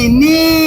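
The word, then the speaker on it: knee: ওকে, বলো K N E E নি। নি অর্থ হাঁটু। কে চুপ চুপ চুপ।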